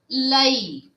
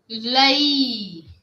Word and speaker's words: l'œil: And if we talk one for one eye, then l'œil. O E I L and L apostrophe O E I L. And we will pronounce l'œil.